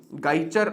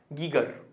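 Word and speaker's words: Geiger: इनमें से एक के बारे में शायद आपने कभी सुना ना हो, गाइचर हिंदी में बोलते हैं, लेकिन इसका एग्जैक्ट प्रोनाउंसिएशन गाइचर नहीं होता, इसका एग्जैक्ट प्रोनाउंसिएशन होता है गीगर।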